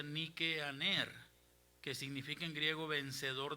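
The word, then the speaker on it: Νικάνωρ: Nicanor en griego se pronuncia Nikeaner, que significa en griego vencedor de los hombres.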